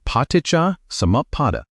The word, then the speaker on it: Paṭicca-samuppāda: Say it like Paṭicca-samuppāda.